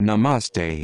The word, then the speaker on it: Namaste: all made from the same one Divine Consciousness Namaste the more formal greeting Sanskrit nasar pronounced n ah masar is also used in